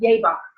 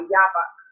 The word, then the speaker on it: Jabbok: So the next story in the cycle is Jacob at Jabbok, or you'll see Jabbok, but remember the J is a German thing. The pronunciation in the Hebrew is the Y, Jabbok.